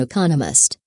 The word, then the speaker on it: economist: There are 4 syllables in economist, with the stress on the second syllable, economist.